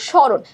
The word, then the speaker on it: স্মরণ: ঠিক আছে, এরপর দেখো স্মরণ। স্মরণে মূর্ধন্য আছে। তোমাদের আমি আরেকটা কথা বলে দিই, সেটা হচ্ছে মূর্ধন্যয়ের উচ্চারণ কিন্তু মূর্ধন্যয়ের মতো হয় না, দন্ত নয়ের মতো হয়।